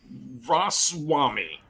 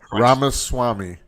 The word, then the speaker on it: Ramaswamy: talk though first about Vivek raswami I think I pronounced that Rama Swami Swami yes all right he's my